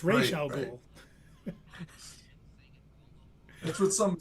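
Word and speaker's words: Ra's al Ghul: It's not Razal Ghoul. What? Yeah, it's Ray Ghoul.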